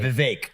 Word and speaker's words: Vivek: We got Vivic Rama Swami. Did I say that correct? Correctly. Pronounced correctly. Pretty close. Vive like cake. Vive cake. Like ram. Okay. Yeah, Vake Rama Swami.